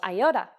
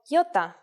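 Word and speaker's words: γιώτα: is a vowel that you may have heard called iota in Greek though it is called Yota and it makes the sound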